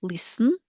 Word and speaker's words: listen: Pay attention that in this word listen, we don't pronounce letter T. It is silent.